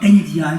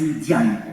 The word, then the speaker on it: Ndiaye: C'est pas Ndiaye, c'est Ndiaye.